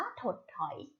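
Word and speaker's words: ถดถอย: คำ ว่า ถด ถอย ถด ถอย อ่าน ว่า ถด ถอย ถด ถอย ประกอบ ไป ด้วย ท้อง นอน เด็ก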